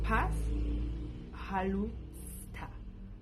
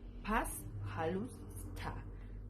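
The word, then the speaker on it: пожалуйста: Así se escribe y se pronuncia paz jalusta. Pas jalusta.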